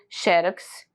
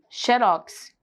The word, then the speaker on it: xerox: Então, aceita, ó, xerox ou xerox. Estão corretos. Qual é a diferença? Porque às vezes você coloca o xe como mais forte, xerox, ou então xerox, como se o urox fosse mais forte.